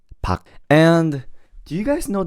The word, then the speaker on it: Park: You know, even though it says Park, when you pronounce the last name Park, don't say the R, just say Park.